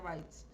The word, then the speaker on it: bytes: está la palabra bytes se escribe bits pero se pronuncia bytes igual que por